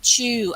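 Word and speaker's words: 中: how you pronounce it we can pronounce it different ways but chu as in china chugachus china in japanese as in the middle country it's the same characters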